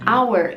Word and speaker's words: hour: Agora, por exemplo, our em inglês, apesar de começar com uma consoante, que é o H, esse H ele é mudo. Não é como a maioria dos sons do H em inglês, que tem o som de ha, ha. Esse não tem som de nada, ele é silencioso.